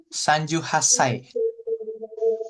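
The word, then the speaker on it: 三十八歳: Sanju Hasai. Sanju Hasai. C-nya nggak dibaca.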